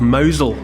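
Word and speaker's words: Mousehole: o w z l in that kind of Cornish way mouse hole becomes mousel and mousel was the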